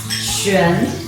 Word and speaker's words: Xuan: My name is actually Xuan because we have four tones like Xuan, Xuan, Xuan, Xuan. It's four different words.